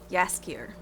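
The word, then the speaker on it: Jaskier: dandelion he seems like a dandelion you know pronounced yaskir still stands um means buttercup I think dandelion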